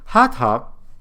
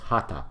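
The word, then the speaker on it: Hatha: Hata is pronounced hata, not hata.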